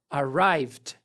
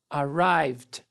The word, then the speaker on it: arrived: é um verbo regular arrived Olha a pronúncia a gente corta Fora esse e e pronuncia somente o d nesse caso arrived arrived e juntamos com